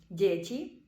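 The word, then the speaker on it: děti: місті Уфа другий випадок якщо ягачкове не стоїть після дтн відбувається пом'якшення читаємо це як детене і приклади деті діти тело тіло цо дещо і третій випадок найдивніший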